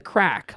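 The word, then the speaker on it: craic: mid 20th century and given its Gaelic spelling cuz it's spelled c r a i c uh a disposition a state of being a sin to not be any the crack like many quintessential Irish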